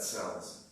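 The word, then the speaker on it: CELSS: And just for a shorthand, I'll pronounce that cells today for this talk.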